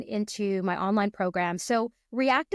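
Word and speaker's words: R3ACT: So React is spelled a little differently. It's spelled R with the number 3, A-C-T.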